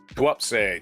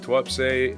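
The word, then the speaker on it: Tuapse: TWAPS. T-U-A-P-S-E. TWAPS. The Kremlin fiddles while TWAPS burns. I just got the pronunciation.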